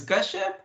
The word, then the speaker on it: Kashyap: My first name is easy to pronounce. Last name is Kashyap.